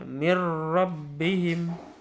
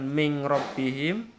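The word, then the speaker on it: مِن رَّبِّهِمْ: Mirrabbihim. Ya, mirrabbihim. Bukan min rabbihim atau min rabbihim, tidak, tapi milladunhu mirrabbihim gitu ya.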